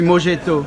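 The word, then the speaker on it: mojito: a un e non c'est M o j i t o Morito et on prononce à l'espagnol on dit mjeto Morito ah bon d'accord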